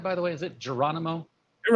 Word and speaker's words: Geronimo: pictures laying around uh david uh there uh geronimo i'm gonna get them from you here am i saying that right by the way is it geronimo you're right you know that's correct oh yeah